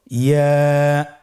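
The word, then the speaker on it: ياء: ইয়া উচ্চারিত হয় জিহ্বার মধ্যখান তার বরাবর উপরে তালুর সঙ্গে লাগিয়ে উচ্চারিত হয়। আমরা জিহ্বার মধ্যখানটাকে উপরে তালুর সঙ্গে লাগিয়ে উচ্চারণ করি ইয়া।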